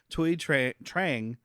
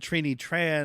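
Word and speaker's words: Thuy Trang: played by someone who Google translations tells me is pronounced tuy TR Trang I said Trin Tran I was mixing up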